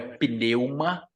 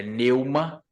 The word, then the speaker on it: pneuma: conhecida com pneumatologia tá o p é mudo na palavra no termo grego não é pneuma é Neuma Tá mas o vício de linguagem nos leva sempre a usar o p nesse termo Tá mas o correto